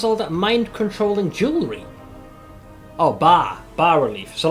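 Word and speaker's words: bas-relief: Oh, bar relief.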